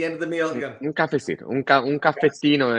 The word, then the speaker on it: caffettino: Un caffettino, un caffettino e si va. Allora, okay. Caffettino, cafecito es español.